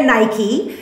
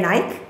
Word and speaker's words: Nike: couldn't get the um as we say in america nike as maybe the brits say nike right right but um